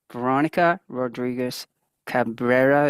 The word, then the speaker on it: Veronica Rodriguez-Cabrera: And I have with me Veronica Rodriguez-Cabrera.